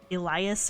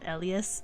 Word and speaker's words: Elias: If you were to watch it in English, they probably pronounce it like Elias or something like that, but in Japanese they call him Elias, and so that's how I pronounce it, and I like that pronunciation better, so that's why I call him that.